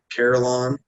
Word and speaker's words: Carillon: I bet my building is the Carillon, is how they say it, and I think our building is like one of the only ones that stayed up.